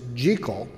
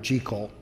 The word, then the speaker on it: Jekyll: Hyde, actually was a Scottish novel, and the proper pronunciation of the first name is Jekyll.